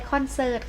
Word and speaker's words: คอนเสิร์ต: คะ ก็ จะ ไป คอนเสิร์ต ค่ะ อ่า คอนเสิร์ต รอ เรือ การันต์ เรา จะ ไม่ อ่าน ออก เสียง ตัว นี้ ใช่ ไหม คะ เด็ก ๆ ก็ ศาล ว่า คอนเสิร์ต ค่ะ ประโยชน์ ป่า ประโยชน์ รอ